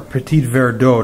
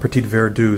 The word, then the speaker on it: Petit Verdot: before these gears are Petit Verdot not petite where do sorry my pronunciation wasn't